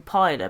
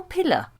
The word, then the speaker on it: Piller: throughout this cast you've insisted on calling him michael piler because for some reason you haven't seen the second l in his name if you listen to the extras on the blu-rays now bearing while we're in season six that seeks lots of extras you should have noticed by now that other people call him michael piller all right nope i